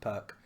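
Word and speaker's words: Pirc: happy for pierce if for those who can't pronounce it properly when it's pronounced perk um things i don't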